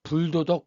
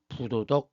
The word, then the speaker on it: 부도덕: 그 뒤에 나오는 말이 디귿이나 지으로 시작되면 이때는 불이라고 읽지 않고 부라고 읽어야 돼요. 도덕 지으로 시작하죠. 정확 지으로 시작되죠.이 이 경우에는 불도덕 불정학이 아니라 부도덕 부정학입니다.